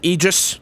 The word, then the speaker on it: Aegis: day we got the egis now I was told it was pronounced egis I totally would have butchered it otherwise had no one told